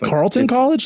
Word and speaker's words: Carleton College: Is it Carleton College? Like, really? It's yeah. not? Oh, yeah, it's just pronounced Carleton College. It's your namesake, bro, and you messed it up.